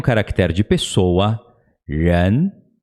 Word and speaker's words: 人: Para pronunciar o R, a gente puxa a língua para trás, ela dá uma enroladinha. Tipo quando a gente pronuncia porta, o R mudo de porta, com o sotaque do interior de São Paulo. Porta, né? Puxa para trás, 人.